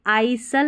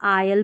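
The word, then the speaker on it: isle: और यहाँ पर देखिए आइसल नहीं पढ़ेंगे, इसको आयल पढ़ेंगे, आयल।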